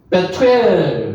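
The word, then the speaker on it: 브두엘: 베토엘 발음은 이렇게 합니다.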